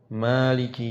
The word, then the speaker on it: Maliki: Jadi kayak misalkan dicontohkan, dalam surat Al-Fatihah, Maliki Yaumiddin, ma-nya dipanjangkan ya, dimatkan kalau itu bacaan Imam Asim, tapi imam yang lainnya itu dibaca pendek, Maliki Yaumiddin.